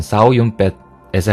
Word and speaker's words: 주윤발: 외래어 표기법에 의한 표준 중국어 발음 표기는 서울음파, 사실 광동어 발음으로는 싸우윤뱃에 가까우나 한국에서 표기할 때는 중화권 인명의 외래어 표기법에 따라 표준 중국어 발음으로 표기한다.